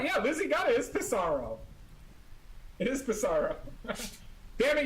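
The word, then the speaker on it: Pissarro: Lizzy got it is pisaro it is pisaro damn it you remember too easy another one it was padoo pisero I think it's pronounced piso fun fact about piso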